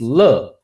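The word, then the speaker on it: 樂: Okay, this word, okay, it could pronounce two ways. If it's le, it means enjoyment, pleasure, happy, joy, etc. If it's yue, pronounced yue, it means music.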